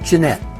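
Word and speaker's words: Genêt: by French Revolutionary envoy Edmond Charles Genet, sometimes pronounced Jeanette, open scorn for President Washington.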